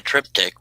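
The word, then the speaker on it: triptych: a live stream someday make a trip tick which is for those that don't know it's spelled t rip P Ty y c h is where a one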